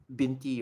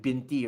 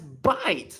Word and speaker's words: binti: Arabic ones it's like binti right and it's abbreviated using bte So, so the exact same chi Chinese guy, he pronounced binty as bite like b i t e.